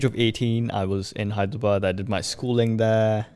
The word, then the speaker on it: Hyderabad: you say that sorry hyderabad high to bird yeah hyderabad yeah and uh it